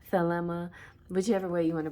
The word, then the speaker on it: Thelema: I call it Telema, but it's Thelema, whichever way you want to pronounce it. Most languages I know use the TH and say tuh, tuh, like that.